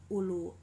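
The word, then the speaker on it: أولو: Nah, ditulis dengan ada huruf wawu, yang pertama ulu, namun wawunya tidak dibaca, jadi dibacanya tetap ulu seperti itu.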